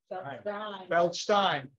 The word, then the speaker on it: Feldstein: And I say Feldstein and not Stein because I understand that's the correct pronunciation. Feldstein.